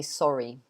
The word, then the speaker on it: sorry: This is different because you have the E sound at the end. The Y becomes an E. So you can't really not say the R. So in British English, we would say sorry.